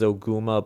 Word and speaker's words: Ogma: Mars is Mars, Ogma is Oguma, but is still spelt as Ogma in the credits, Bartz instead of Barth, Jaga instead of Drog, that kind of thing.